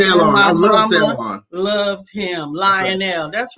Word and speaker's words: Lionel: It's Lionel.